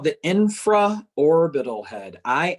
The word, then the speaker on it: infraorbital: between those two muscles so that's called the infra orbital head i n f r a o r